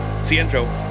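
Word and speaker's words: Xianzhou: Joe whoever told me the pronunciation for Cen Joo is like literally the C the letter c and then the letter n and then just the name Joe I've remembered that ever since cenro I wanted to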